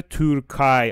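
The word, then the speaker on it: Türkei: یه نکته تلفظی جدید ایآی که میاد میاد صدای آی میده توی آلمانی مثل چی مثل تورکای آخرشو نگاه کنید ایآی داره آی صدا میده خب و آخرشم گفته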